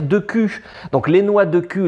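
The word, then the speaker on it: Deku: noix, les bâtons, et nous on disait dans les locaux de Nintendo au Japon, on disait des coups, sauf qu'il n'y a pas de voix. Et personne ne le prononce. Donc quand tu le lis, c'est marqué D-E-K-U. Donc tu peux dire de cul.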